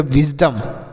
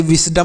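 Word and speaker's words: wisdom: छोटी ई की मात्रा एस से हो गया ज एस से स भी होता है और ज भी होता है दोनों होता है स कहीं कहीं पर लिखते हैं स ज्यादातर स होता है कहीं-कहीं पर ज भी लिख देते हैं तो होगा विज डी ओ से डो लिखेंगे एम से म ये हो गया विजडम इसे विजडम नहीं विजडम पढ़ेंगे और विजडम मतलब होता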